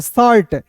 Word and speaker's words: shirt: अब देखिए यहाँ पे SHIRT, सीट नहीं पढ़ेंगे, शर्ट, SH का स, टी का ट आ रहे तो रेप लगा देंगे, शर्ट।